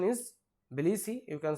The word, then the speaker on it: Tbilisi: Tbilisi, you can say, or the actual pronunciation is Tbilisi, T is silent, Tbilisi, Georgia. The actual pronunciation is Tbilisi, you can say, it is in Georgia.